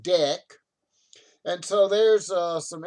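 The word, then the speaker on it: deque: at either end and it's called a deck d-e-q-u-e pronounced deck and so there's uh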